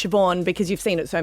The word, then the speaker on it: Siobhan: The thing is you know that it's Siobhan because you've seen it so many times. Yeah. Yeah. It's spelled Saban.